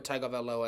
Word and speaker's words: Tagovailoa: Everyone acted like they couldn't pronounce it. I'm like, "Guys, it's Tua Tagovailoa.